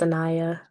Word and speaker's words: Anaya: Also, it's pronounced Anaya. Anaya. Okay, sorry, my glasses, it's looking like an I or L I couldn't see. So Anaya. Wonderful.